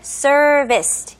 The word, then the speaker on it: service: 근데 영어로는 특히 이제 외국인한테 얘기를 할 때는 발음을 serviced, 이음절로 service, service라고 합니다.